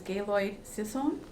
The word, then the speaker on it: Gaylord Sisson: So our next speaker is Gaylord Sisson. Did I pronounce that correctly?